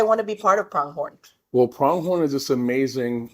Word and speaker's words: Pronghorn: Tell me how you pronounce it. Pronghorn. Just Pronghorn. Just Pronghorn.